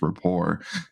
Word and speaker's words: rapport: it's some weird friendship it's rapport and um i don't actually know if report comes from french but i think it does because it has a silent t at the end and um just things to